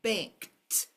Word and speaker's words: banked: bank same thing I I banked my points today I banked there's a t at the end T sound at the